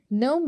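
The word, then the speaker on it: gnome: नोम में we don't pronounce ji.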